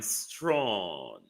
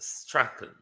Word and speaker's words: Strachan: Your last name, sir, is quite a British name. It's pronounced Strachan. Strachan, sir, not Strawn.